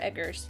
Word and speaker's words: Eggers: Robert Eggers.